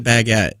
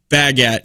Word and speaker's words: baguette: It's pronounced baguette, yeah, not baguette.